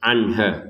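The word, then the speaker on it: عَنْهَا: Nun sukun bertemu ha kita baca dengan jelas, ya, anha, ya, jangan ada dengung anha, ya.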